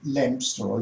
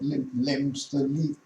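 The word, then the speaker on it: Leominster: Well, firstly, this place called Leo, or Lemster, I think it's pronounced, but Lemster.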